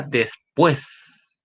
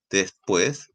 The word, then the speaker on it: después: en n la palabra después después después se puede separar en sílabas y la fuerza agota en la última sílaba después y ahí por